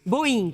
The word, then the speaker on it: Boin: É Boin que se pronuncia o seu sobrenome, doutora? Boa tarde, seja muito bem-vinda. Boa tarde, é Boin. Boin, com I mesmo, né?